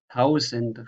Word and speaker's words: tausend: So this is a normal Z, tausend, Reise, lesen.